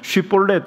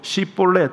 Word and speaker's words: 쉽볼렛: 렛이 발음이 안되는 거 볼렛 하라고 하면 쉽볼렛 이렇게 못 하고 십볼렛 뭐 이렇게 했던 거예요 우리 경상도 사람들이 발음이